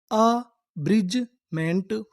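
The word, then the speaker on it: abridgement: अगर आपको इंग्लिश में कहीं पर डी जी ई लिखा मिले तो हम लोग डी जी ई को पढ़ते हैं ज।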